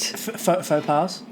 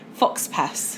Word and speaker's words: faux pas: No, but what I've found overall is everyone's been very forgiving of faux pas for the past, for all of it, really. It started with Rhubarb Gate. Faux pas? Oh, sorry, Fox Pass.